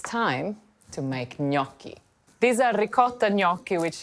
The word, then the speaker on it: gnocchi: Now, gnocchi is not gnocchi, and it's not gnocchi, it's gnocchi. Think of it as N-Y, gnocchi. And that first syllable, that's the one you really need to put the emphasis on, okay?